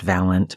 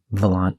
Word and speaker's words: Valant: Well, he's here, and his name is Valant Gramarye. I know it's pronounced Valant, but, Valant just sounds cooler to me.